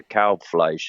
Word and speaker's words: Kalbfleisch: I always explain to people, if you say like a cow with a B at the end and a fly on the wall with a sh, it's a Kalbfleisch is how you say it.